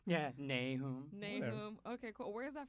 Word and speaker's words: Nahoum: Yeah, Nahoum.